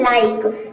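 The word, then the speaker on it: like: next rule देखते हैं rule number तीन है यदि आई के बाद कंसोनेंट प्लस ई आ चाहिए तो आई को हम आई प्रोनाउंस करेंगे आई के बाद क्या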